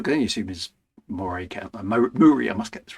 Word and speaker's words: Moray: Whereas the county I live in is spelt Moray, but it's pronounced Murray for reasons that will never ever be explained.